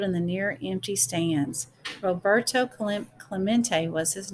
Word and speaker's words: Roberto Clemente: Roberto, let's see, Clement. It echoed in the near empty stands. Roberto Clemente was his name, and this is pronounced Roberto Clemente.